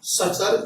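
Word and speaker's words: suture: बोलते हैं Indus Tsangpo सचर zone. क्या कहते हैं इसको इंडस सांगपो सचर जोन। ये टी है, ये साइलेंट रहता है, यानी कि इंडस सांगपो सचर जोन।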